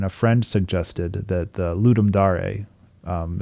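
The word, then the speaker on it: Ludum Dare: of it and a friend suggested that the ludum DAR um it's pronoun or it's pronounced ludum Dar but it looks like L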